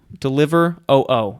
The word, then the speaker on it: Deliveroo: like an English deliveroo deliver oo is how it's spelled it's probably deliveroo deliveroo whatever when she